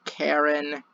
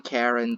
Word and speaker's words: Charon: However, his name is actually pronounced Charon. Charon, Karen, take your pick.